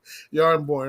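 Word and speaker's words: Jarnbjorn: I don't know how to pronounce it properly, but Stormcaster or was it Jarjaborn? I forgot the X Jarjaborn. Yeah, I can never say that. The J is Y. Yarnborn.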